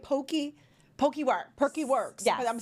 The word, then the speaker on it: Poke: Poke works.